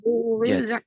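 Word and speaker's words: زُوِّجَتْ: Wa Tidak izan panjang, Nek. Tapi ditasydidkan, ditekankan ke huruf langsung ke masuk huruf waw. Zu, zu, zuwijat, zuwijat. zuwijat, seperti itu, Nek.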